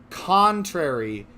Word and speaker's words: contrary: is to be believed contrary is the corre correct pronunciation this the emphasis should be on the first syllable um he's not pumpkin